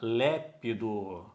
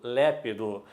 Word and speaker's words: lépido: mas ela consegue ler porque ela sabe que a sílaba tônica é no assento e o timbre aberto lépido misógino mesma coisa Pessoal